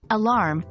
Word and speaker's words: alarm: The word alarm should be clear, with emphasis on the second syllable.